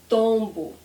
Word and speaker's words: tombo: And the trick, what is the trick? We don't close our lips.